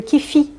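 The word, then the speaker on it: kyphi: Et ils utilisaient le kifi. Voilà, ça s'écrit K-Y-P-H-I, qui, selon Plutarque, contiendrait 16 ingrédients différents, dont le cyprès, le cèdre, le lentisque, la cannelle, la myrrhe, etc.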